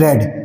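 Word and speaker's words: read: रीड की second form रेड spelling will be same spelling same रहती है इसको पहले में रीड बोला जाता है दूसरे और थर्ड सेकंड और थर्ड फॉर्म में इसको रेड पढ़ा जाता है माय फ्रेंड रेड दज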